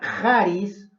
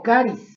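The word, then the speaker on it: χάρις: Y en griego se pronuncia charis o caris.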